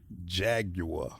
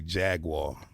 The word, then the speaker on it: Jaguar: is that you know you Americans say jaguar but it's a Jaguar you know what I'm saying that's how you guys say that's how the Brit say it that's how I'm going